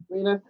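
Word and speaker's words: Rhaena: It's like it's pronounced differently. It's yeah. No, you're right. It's Raina. Yeah. Raina.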